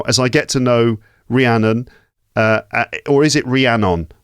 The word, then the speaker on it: Rhiannon: gosh yeah hello ranan ranan or Ranon what's the right way to say your name it depends if you are my mother and angry then it's Ranon but if you're if you're just neutral then it's Ranon oh your mother says Ranon